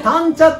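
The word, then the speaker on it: 谷茶: しいね、谷にお茶と書いてタンチャ、タンチ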